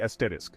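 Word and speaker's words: Sagittarius A*: example है सेजिटेरियस ए एस्टरिस हमारा galactic सेंटर oestrone मर्स ने हमारी गैलेक्सी और उसके बाहर कई ब्लैक होल्स डिस्कवर किए हैं एक फेमस एग्जांपल है सेजिटेरियस ए जिसे ए स्टार प्रोनाउंस करते हैं सेजिटेरियस ए एस्टरिस एक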